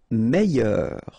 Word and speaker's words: meilleur: Meilleur. Okay, same thing here. I-double-L-Y, meilleur. Mieux. Final X not pronounced.